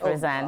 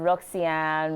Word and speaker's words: Rosanne: Titi's right, Rosanne. God. Oh, God. So, MM pronounced it as Rosanne. Oh, wow. Yes. So you probably get a lot of different Yes, pronunciations. different pronunciations. Roxanne, Roxanne.